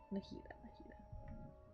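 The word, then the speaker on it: Nahida: yeah I'm Nita and I've been saying her name wrong Nita good you passed the test what's happening you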